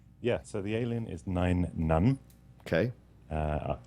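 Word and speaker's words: Nien Nunb: so the alien is nine none okay uh like number nine and keep saying rotic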